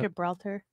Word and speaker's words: Gibraltar: town city whatever I'm not even trying to pronounce that one do you know how to say that Gibraltar yeah that's exactly it yeah nailed it and